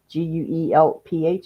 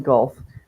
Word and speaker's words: Guelph: They lived in Guelph, Guelph, is that how it's pronounced? Guelph? Yes.